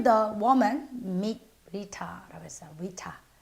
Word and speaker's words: Rita: Rita. 자, 미국식 발음은요. 제가 첫 시간에 말씀드렸죠. T를 R가로 굴린다고 그랬으니까 Rita라고 굴리겠죠?